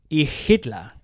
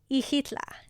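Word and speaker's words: Xilitla: to a little town called ehla spelled with an X at the start right ihla very good and the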